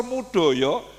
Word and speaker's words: Moedojo: Jadi karena tulisan beliau itu namanya kan ditulis ejaan lama M O E D O J O. Profesor M O E D O J O Moedojo kan bacanya mudoyo.